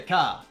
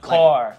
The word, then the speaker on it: car: So like car, we say car. Not with the R sound. Car. Like Americans, car. Yeah, right?